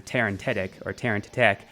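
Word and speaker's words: Terentatek: And the name just always rings out to me because I thought I was pronouncing it wrong the first time, Terran Tetek, and it ended up being correct, and I was actually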